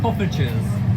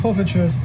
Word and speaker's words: Poffertjes: Poffertjes. Poffertjes.